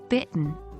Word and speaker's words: bitten: bitten the past participle bitten is pronounced like bit n with a silent E 2.